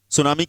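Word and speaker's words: tsunami: been lost in सुनामी सुनामी की spelling में टी आता है लेकिन टी म्यूट रहता है सुनामी जानते हो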